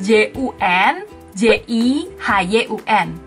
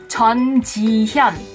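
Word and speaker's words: 전지현: Namanya kan tulisannya J-U-N, J-I-H-Y-U-N. Banyak yang pasti bacanya Jun Ji Hyun, Jun Ji Hyun. Di Korea juga nggak ada marga yang namanya Jun. Yang benar bacanya adalah Chon. Chon.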